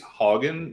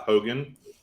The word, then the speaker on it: Haugen: So Francis, I think it's Hogan, not Hogan. I heard the Congress people say it both ways. They've been pronouncing it Hogan, but it's spelled Haugen.